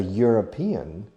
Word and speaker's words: European: And in the case of a European, Europe or European starts with an E. However, the sound is a Y, un Y, a European country.